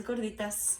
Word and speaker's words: gorditas: This is how it's supposed to look like, the gorditas, or that's how you pronounce it? Yes, gorditas.